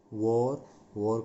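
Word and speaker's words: war: वॉर का मतलब युद्ध। इसका उच्चारण देख लेंगे एक बार, भले इसमें ए है लेकिन इसका उच्चारण ओ की तरह होता है।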